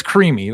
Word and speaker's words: Crimi: It's creamy, like the texture.